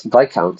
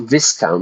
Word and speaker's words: Viscount: witch when the VIS VI count sorry not Viscount notice this the pronunciation there Viscount is actually VI count the S is silent there like the other word